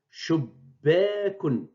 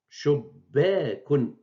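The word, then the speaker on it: شُبَّاكٌ: On la double avec la shed, la présence de shed, et bien sûr avec fatha le tiré, et on prononce shubbekun. Shubbekun.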